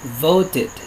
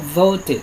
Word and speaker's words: voted: Jim voted. Nah, cara membacanya voted ya. Nah, apabila bunyi itu berakhiran dengan teh, dengan deh, maka cara mengucapkannya itu menjadi tit atau did.